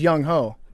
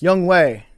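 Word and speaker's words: Younghoe: It says Yung Ho. Is it young? It's Young Way.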